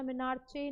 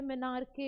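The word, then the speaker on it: menarche: बोलते हैं मेनार के प्रोनाउंस सही से करना मेनारचे नहीं होता है मेनार के होता है मनार के दैट इज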